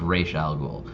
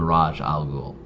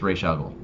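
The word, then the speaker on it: Ra's al Ghul: episode where talia algol specifically says it's pronounced reish not raj so it's ray shaggle and it was really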